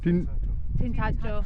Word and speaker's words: Tintagel: How do you pronounce it, Dad? Tintagel.